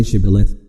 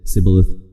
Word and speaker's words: Shibboleth: he answered no they told him please say Shibboleth if he said Cybil ahthe because he could not pronounce it correctly they seized him and killed